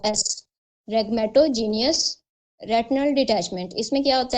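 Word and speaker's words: rhegmatogenous: आर एच ई एच इसमें silent होगा। ठीक है? आर एच ई जी एम ए टी ओ रेगमेटो जी ई एन ओ यू एस रेगमेटोजीनियस retinal डिटचमेंट।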